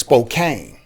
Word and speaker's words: Spokane: spokane if you're if if you don't know the pronunciation you would say it's spokane yes okay and so so